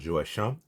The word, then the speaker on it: Joachim: Je prononce Joachim à la française.